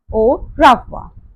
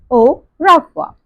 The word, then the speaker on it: au revoir: Just read the English pronunciation and repeat with me. Au revoir. Again, au revoir.